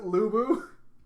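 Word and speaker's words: Lü Bu: so my notes say lubu uh that's his name right is that how you pronounce it lubu yes okay i'm just gonna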